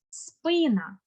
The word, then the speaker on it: спина: Також ми звикли зовсім по-іншому наголошувати наступне слово спина не спина а спина тобто у мене пісня